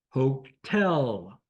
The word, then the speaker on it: Hotel: Hotel. Accent is on tel.